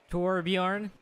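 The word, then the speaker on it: Þorbjörn: That's a thorn, so it would be T-O-B-R. Torbanadjotur. Torbjorn? That would be, it would be Torborn, daughter of Torbjorn.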